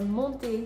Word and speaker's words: monter: And the same thing goes for infinitive verbs that end in ER. Although R is the last consonant and it is part of this mnemonic that says careful, these consonants are pronounced. You are not going to hear the R. For example, in aller or monter.